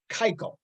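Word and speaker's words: Keuchel: want to just so you know it's it's kaiko okay okay that's i just want to just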